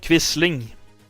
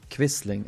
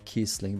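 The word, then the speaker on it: Quisling: gave rise to the term how do they pronounce it? Vidun quistling. Quistling. Okay. I always pronounce it at Kisling but no quistling.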